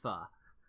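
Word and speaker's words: phở: it's a food it's it's spelled pH oh but it's pronounced fuh I don't know that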